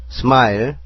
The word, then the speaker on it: smile: smile, S는 short, M은 미음, I는 자기소리 I로 쓰였고요. L은 리얼, 끝에 있는 E는 소리가 안 나네요. 그래서 스마일이 됩니다.